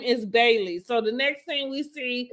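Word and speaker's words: Baileys: So her dog's name is Bailey. So the next thing we see is Bailey's. With Bailey's. That's what I said. Bailey's. Mm-hmm. Bailey's. I'm saying the S.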